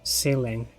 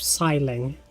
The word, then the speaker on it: Sileng: It's fine because it's pronounced like it was saying in Spanish, ceiling, instead of siling.